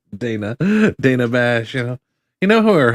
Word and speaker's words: Dana Bash: got good old Donna Donna bash as uh camela since she hat I thought it was D pronounce Dana Dana Dana is what she said Dana Dana Bash you know you know